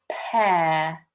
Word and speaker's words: pear: Okay, so apple, orange, peach, and pear. Pear. Notice how my mouth is relatively open. I'm not pronouncing the R at the end.